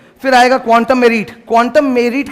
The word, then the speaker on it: quantum meruit: क्वांटम मेरिट का जो pronunciation है, recently when I checked it अप, ठीक है, इसका प्रोनाउंसिएशन मेरिट नहीं है, इसका प्रोनाउंसिएशन होता है मेरिट, मतलब MEREET, ये इसका प्रोनाउंसिएशन है।